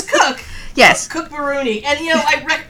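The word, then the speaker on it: Cooke: That's Cook. You should just take the E off. I should. It's Cook.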